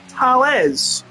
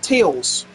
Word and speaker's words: Tails: Someone saying Tails, I'm fairly sure pronounced Tales, not Tails.